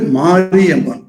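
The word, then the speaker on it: மாரியம்மன்: হ্যাঁ, ওটা মারিয়াম্মান না, ওটা উচ্চারণ হবে মারিয়াম্মান।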